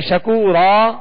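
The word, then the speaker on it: شكورا: اب یہاں جب وقف کریں گے شکورن تو پھر جو ہے یہ الف مدہ اس کا پڑھا جائے گا، یعنی شکورا کہہ کر وقف کریں گے.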